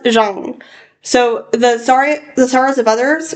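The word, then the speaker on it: Zhang: It's pronounced Jeang. So, the sorrows of others by Ada Jang.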